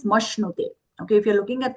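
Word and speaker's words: मश्नुते: Here mashnute, it's a half sha with a no. It looks like a ra, but it's not mashrute, it is mashnute.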